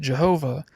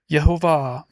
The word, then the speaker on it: Yhovah: Often people pronounce it Jehovah. But the J is not a hard consonant but pronounced more like a Y as there is no hard J sound in Hebrew.